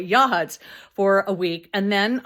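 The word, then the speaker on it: Yachats: So I was sent I went to Walport for nine days, Yacht Huts, I was going to say Yacht Hats because I pronounced it that way. Yahuts for a week and then I went to Gold Beach.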